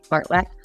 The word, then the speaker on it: fartlek: But tempo runs, interval runs, fartlek runs, and yes, that's how you say it, fartlek.